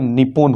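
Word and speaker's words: 日本: सबसे पहले जापान तो जापान जिसका उच्चारण निपन होता है अगर हम लोग जापान बोल तो इसका उच्चारण स्थान निपन या नि होन होता है परंतु औपचारिक रूप से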